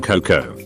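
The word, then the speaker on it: cocoa: That you don't pronounce the A in Coco.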